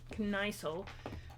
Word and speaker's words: Kniesel: Well, anyway, I was pronouncing it as Knickel, so you know, Kniesel.